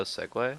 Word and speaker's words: segue: It looks I didn't I didn't realize it was spelled like that for a while. I thought it was just spelled like the vehicle.